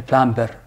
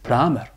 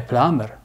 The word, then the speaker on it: plumber: B is silent, okay? When you read, don't say a plumber, but plumber. A plumber.